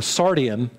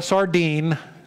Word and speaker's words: Sardian: a sardi a sor sardian i'm trying to remember how to pronounce that right a sardian not a sardine a sardian hey you